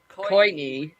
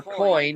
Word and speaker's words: Wayne Coyne: Wayne Coyne, or Coin, however you want to pronounce it, Connor Oberst.